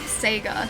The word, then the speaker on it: Sega: The way that I say Sega and not Sega, thanks buddy. is a regional thing. I feel like Seager is the more common pronunciation in Australia and not Sega.